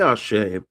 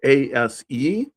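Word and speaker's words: Àṣẹ: And it could be spelled ASE. So people say Ase, Ase, Ase, but usually there's an accent on the E and or an X or a little dot under the S, and that little dot under the S makes it a sh, so ashe. Or people will spell it ASHE, so ashe. But it's ashe, ashe, ashe.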